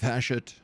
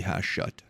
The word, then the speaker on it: Hashut: I think the accent goes on the second syllable. Hashut or Hashut? I think you might be right. I think it might be Hashut.